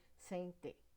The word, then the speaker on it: sente: É ferida que dói e não se sente. Eu dividi todas as sílabas. Procuro a sílaba tônica da última palavra. Sente. Sente. Você já reparou que o T virou ti?